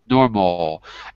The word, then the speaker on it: normal: So instead of going normal, it's normal, normal, as if it's spelled with an A-U instead of an A-L or an A-W. Right? M-N-O-R-M-A-U. Normal. Kind of like that. Don't exaggerate, but a little bit like that.